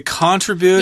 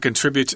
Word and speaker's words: contribute: I think I've heard British people say contribute Yeah, before. the British do it. Sometimes they do that, but contribute is the American pronunciation.